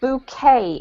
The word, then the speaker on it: bouquet: face Thank You Maria this one here is pronounced bouquet a book ok ok alright any questions from